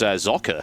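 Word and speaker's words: Socke: There's always this big debate about the pronunciation of Soke. Like, for instance, in Germany, it's Sock, or I believe Cat's Pajamas actually pointed out the correct pronunciation was Zocker. Yeah, Zocker. So, Zocker. But he's okay with being called Soke and things like that.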